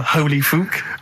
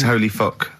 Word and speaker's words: Holy Fuck: Please, can we have more Holy Fook? You're not pronouncing it right, Steve. I know. I was just a bit edgy there. It's Holy Fuck, the little Chinese fella.